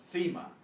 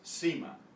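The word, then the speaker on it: cima: pronounced the same way so in Castilian Spanish this is FEMA where the th sound from as in thin FEMA this is SEMA elsewhere in the spanish-speaking world these are pronounced identically the problem is their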